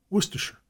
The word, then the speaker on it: Worcestershire: Footnote: I have often noted that Americans, in speaking of the familiar Worcestershire sauce, commonly pronounce every syllable and enunciated shire distinctly. In England, it is always Worcestershire.